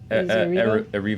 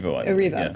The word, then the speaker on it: Erivo: Cynthia Erivo in if I'm mispronouncing, is it Erivo? Erivo. Erivo, great.